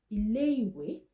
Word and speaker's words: ilé-ìwé: Okay, these noun phrases, the first one is pronounced as ilé-ìwé.